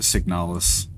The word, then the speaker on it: Signalis: nobody will tell me You pronounce it signaliz or signal? I I pronounce it signalis. I don't know if that's wrong or not, but it feels natural.